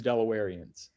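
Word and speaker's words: Delawareans: to clarify you for you that you did pronounce it correctly it is delawarians delawarians that's good yeah i'm sure you get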